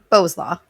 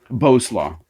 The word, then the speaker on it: Bowslaugh: is it bauslaw how do you say your last name beau's law bose law uh bose law okay i'm a canadian i say bao so bo boslaw i'm gonna what ah